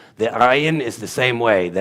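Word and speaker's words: עין: The letter Ayin means just what it sounds like. I. It's Ayin. It's Ayin.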